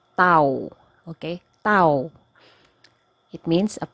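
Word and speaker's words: tawo: is or it exists it is actually pronounced as tau okay tau it means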